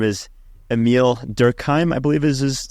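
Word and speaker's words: Émile Durkheim: There's a French sociologist, his name is Emile Durkheim, I believe is how you pronounce his name.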